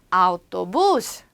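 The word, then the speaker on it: autobús: 그 밑에 있는 오토에 해당하는 A하고 U가 붙으니까 어우라고 읽었던 오토버스라고 읽었던 걸 우리는 이제 스페인어를 배우면요. 우기 때문에 아우토부스, 버스라는 뜻입니다.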